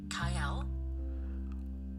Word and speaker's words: Cyael: You're asking me, Kael?